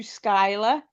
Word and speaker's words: Skyla: So on March 16th, 2016, I legally changed my name to Skyla, spelt the same way that it's the first pronounced.